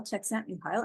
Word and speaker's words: Csikszentmihalyi: But then I thought about Mihail Csikszentmihalyi, and that is how you say his name.